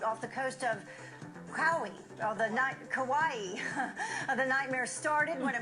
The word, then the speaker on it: Kauai: Kauai. The nightmare started when a massive wave hit the boat. All 3 were thrown in the water. She thought it was pronounced Cowie. No.